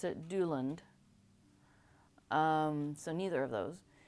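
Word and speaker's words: Duilond: of discussion on how to pronounce things I pronounce it Doland um so neither of those um I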